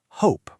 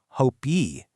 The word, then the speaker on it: hope: in the English language, the e at the end of this word is totally silent. We pronounce it hope. We definitely do not pronounce it hope-y.